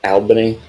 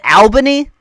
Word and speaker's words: Albany: Albany. You said Albany. Albany. That's what. It's actually pronounced. I'm like, I mean, fuck off, bro. It's Albany.